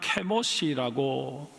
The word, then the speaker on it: 그모스: 그러나 혈통만 그랬을 뿐이고 오랜 세월이 흘러오는 동안 모압은 하나님을 버리고 그 모습, 히브리 원어 발음으로는 케모시라고 부르는 전쟁의 신을 섬기고 있었습니다. 뿐만 아니라 이 그모스에게 제사를 지낼 때는 사람을 잡아서 바치는 인신 제사를 드렸습니다.